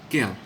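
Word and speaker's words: quel: s is feminine plural but they're all pronounced as kale and before the numbers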